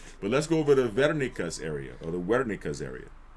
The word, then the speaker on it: Wernicke: We're going to train Broca's to Wernicke's. Okay? All right. Now, right here, posterior speech area is called Wernicke's area, right? Some people say Wernicke because they pronounce W as a V, but it's Wernicke's area, right?